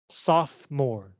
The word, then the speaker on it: sophomore: you say this word sophmore this o does not make a sound and if you don't believe me you can check a dictionary sophomore right okay dormant